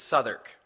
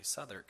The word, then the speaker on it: Southwark: And south of the Thames is Southwark. It looks like Southwark, and I called it that, and my dad said, oh, it's actually Southwark.